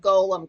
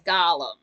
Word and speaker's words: golem: But then they'll say the word golem correctly, which weirds me out because ever since 2001, people cannot see the word golem and then pronounce it as Gollum. Like that extra L makes a difference.